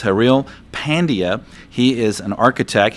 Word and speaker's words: Haril: Yeah, Haril.